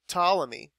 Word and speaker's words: Ptolemy: obviously, a scientist named Ptolemy. Okay, the P is silent, and sometimes you'll see this called the Ptolemaic theory. All right, and so that right there. Aristotle said it. Ptolemy said it.